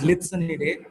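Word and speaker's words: Lycaenidae: And the fourth one is pronounced as Litsonidae, which is also called as blues.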